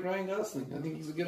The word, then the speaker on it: Gosling: Did you say guzzling? Gosling.